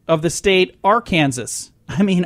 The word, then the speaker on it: Arkansas: It's against the law to mispronounce the name of the state Arkansas. I mean Arkansas.